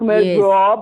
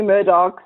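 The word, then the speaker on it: Murdaugh: Yes, some people think it's like murder, like Murdo, but it's actually Murdochs. I also was confused about the pronunciation, but it's actually the Murdochs' death in the family.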